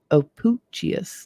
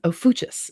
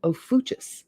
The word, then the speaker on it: Ophiuchus: to heaven and made it and asciplius the opuchius no sorry of ophuchus ophuchus is how it's pronounced ofuchus i want to call it something else but